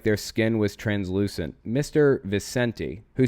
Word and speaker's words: Vicente: is New York Times in late 2015 Marc Vincent I'm sorry vicente then a senior member of the cult light